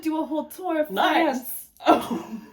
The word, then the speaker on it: Nice: We're gonna do a whole tour of Nice. France. Oh, I thought it was Nice. Well, I guess if you're pronouncing it in the French way, yes.